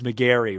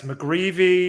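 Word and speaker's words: McGreevy: I know one of them is McGary, right? Yeah, it's McGrevy or McGrevy.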